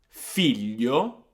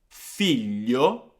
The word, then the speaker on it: figlio: then we're going to listen to Gaia that pronounced these words for us. So we've got the words famiglia, famiglia, figlio, figlio, foglia, foglia, maglietta, maglietta.